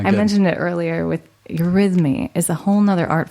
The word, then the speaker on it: eurythmy: And this new, I did want to just talk about this because I mentioned it earlier with eurythmy is a whole nother art form that I've just recently discovered.